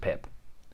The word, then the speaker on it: Pepe: pep uh is is exactly that it's just pip okay um scotland pretty easy to pronounce russia there's two names here i don't